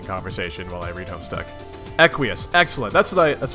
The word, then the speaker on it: Equius: name is equius aha is that how it's pronounced is it equius it looks like aqueous I'm gonna go with that quiesce unless you guys have